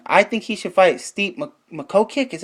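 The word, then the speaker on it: Stipe Miocic: fighters and and I think he should fight steep makho kick is how you say his name or JDS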